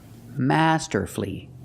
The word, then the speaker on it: masterfully: l l y and the stress is on the first syllable so the U is silent example he played the guitar last night night he played the guitar masterfully masterfully three syllables don't pronounce